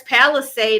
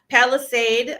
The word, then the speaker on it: Palisade: Palisade. I think I'm saying it right. P A L I S A D E for those who um might think I'm saying it wrong.